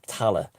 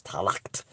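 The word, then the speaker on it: Tallaght: in ireland and they were all buried in tala and which was mispronounced by the earth the the americans as talact because it's spelled t a t-a-l-l-h-h-t and irish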